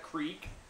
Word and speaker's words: creek: Go down by the creek, or crick, depending on where you live, how you say it, and have a good old time to yourself.